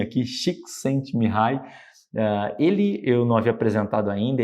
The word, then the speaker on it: Csikszentmihalyi: Esse nome complicado, deixei até como se pronuncia aqui, Csikszentmihalyi.